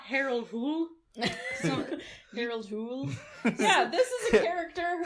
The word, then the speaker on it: Hole: Harold Hool.